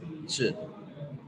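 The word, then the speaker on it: 这: So, our first word is ch, ch, Z-H-E. The sound of Z-H is ch, so we will pronounce it ch. It's a fourth tone ch.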